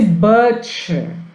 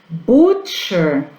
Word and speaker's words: butcher: No caso de butcher, açougueiro, a gente vai pronunciar com o som de U mesmo, tá?